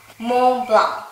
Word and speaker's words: Montblanc: I tried, but they said you're supposed to not pronounce the T and C. They also have this nasal strategy that I don't know about. Montblanc. Montblanc.